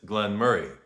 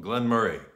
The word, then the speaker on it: Glen Moray: can vary some, but what I have heard is Glen Murray. Glen Murray, which is almost a Murray sound, but edging towards a Moray sound. So Glen Murray.